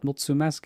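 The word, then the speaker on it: mulțumesc: do you say it you want to try multimask multimask well done was that right yeah mutsu mask yeah there you go it's the first time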